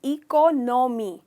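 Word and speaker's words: economy: Generally लोग कहते हैं इकोनॉमी, पर इसका करेक्ट प्रोनाउंसिएशन है इकोनॉमी। तो नो नहीं है, न है।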